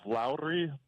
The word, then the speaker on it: Lowry: which new jazz player that's the name is Lowry Lowry yeah perfect he is I've watched him